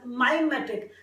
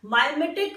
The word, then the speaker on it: mimetic: See, I pronounce it mimetic, but if a person pronounce it as mimetic, that is also not wrong. That is absolutely correct, because lot many dictionaries state or actually pronounces the word like that. Mimetic or mimetic, both of them are correct.